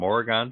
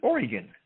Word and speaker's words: Oregon: from from oregon because if you're from oregon you pronounce it oregon you don't pronounce it oregon so you have betrayed